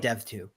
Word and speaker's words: Dev.to: People disagree on how it's pronounced. I call it Dev2.